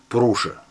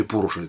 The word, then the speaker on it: Пуруша: Миф Пуруша. Или Пуруша, так и так делают ударение.